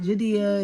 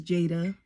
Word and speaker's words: Jadea: My name is Jada. Okay, it's spelled kind of weird. It's spelled Jadea. But it's not Judea, it's not Judea, it's not Judea, it's Jada. When I was younger, everybody used to always mispronounce my names.